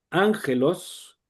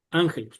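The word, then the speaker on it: ἄγγελος: Cuando nosotros leímos ángelos, estaba así, ángelos, ángelos no se pronuncia con de la otra manera porque esto nos indica cómo pronunciar esta vocal.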